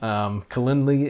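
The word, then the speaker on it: Calendly: people you've dealt with Kalindi as a as a popular one I think that's how you pronounce that because CA l in d ly so some V Tigers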